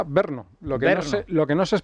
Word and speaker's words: Brno: Sí, vino ¿Cómo se pronuncia Brno? Se pronuncia Brno.